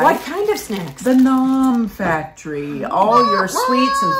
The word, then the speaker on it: Nom: At Nom is N-O-M. N-O-M. Yes. N-O-M. Don't think it's gnome pronounced differently, because it's not. No. Nom, like, ooh.